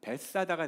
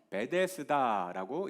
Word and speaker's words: 베데스다: 그걸 합치면 현지인들 발음으로는 베사다가 됩니다. 베사다. 이것을 한글 성격으로 번역을 하면서 베데스다라고 이제 부르게 된 것이죠.